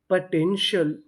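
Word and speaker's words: potential: PO इसे पढ़ेंगे पा, यहाँ पे ओ हमारा साइलेंट रहेगा। TEN टेन, TIAL शल, पूरी मीनिंग पोटेंशियल, पोटेंशियल, पोटेंशियल का मतलब होता है क्षमता।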